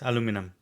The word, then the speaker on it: aluminum: We say aluminium, here it is aluminum.